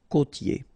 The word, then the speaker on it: côtier: Okay, côtier. Okay, I-E-R here. Ye.